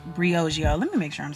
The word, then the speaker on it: Briogeo: I was saying the name wrong the whole video, but Briogeo, Briogeo, let me make sure I'm saying it right, Chad.